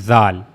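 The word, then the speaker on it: ذال: So this is the only difference between dal and zal.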